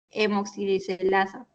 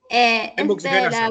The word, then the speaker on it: hemooxigenasa: convierte en bilirrubina no conjugada a través del hemoxilasa. Perdón si lo pronuncié mal. Hemoxigenasa, pero está bien.